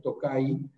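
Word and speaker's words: Tokaji: La J en húngaro se pronuncia como la Y, es Tokay.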